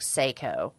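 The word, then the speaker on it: Sseko: you but it said but you say it like Seiko okay but Liz she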